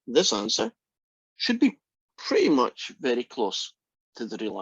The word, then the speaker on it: mu: That little Greek letter is pronounced mu.